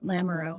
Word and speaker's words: Lamoreaux: sure it's so lamarreau is my name you know the french the french pronunciation can really trip people up sometimes and believe it or